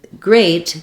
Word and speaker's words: great: meet beat read greet but in great the EA says the a dip thong uh we typically spell